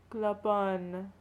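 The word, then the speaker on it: Clopin: Clopon. That's how you pronounce his name, right? Yeah, French.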